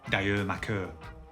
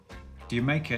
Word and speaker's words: D'yer Mak'er: Rather than being yet another esoteric reference, which is how many fans interpreted it, D'yer Mak'er is simply a play on the way Jamaica is pronounced by the English.